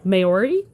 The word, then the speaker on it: Maori: Mainly because I do not speak Maori, which is where it's pronounced Maori. Maori. I thought it was Maori.